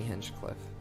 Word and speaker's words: Hinchcliffe: uh just your name right yeah it's Tony henchcliffe and that's spelled h plus hch Cliff plus e it's